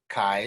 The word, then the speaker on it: chi: uh you should basically pronounce it like the first syllable in kayak all right kayak chi square okay in fact